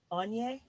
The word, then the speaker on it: Onye: So without further ado, I'd like to introduce you to Sophie and Onye.